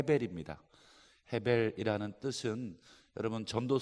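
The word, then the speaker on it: הבל: 둘째가 아벨이 입니다 레이아 베레 2 원래 이르 발음은 해 베리 입니다 헤 벨 이라는 뜻은 여러분 점도 소 해보시면 허 때고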